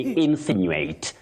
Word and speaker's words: insinuate: Now you begin with what we call the stress on the first syllable for that word. Then you say insinuate.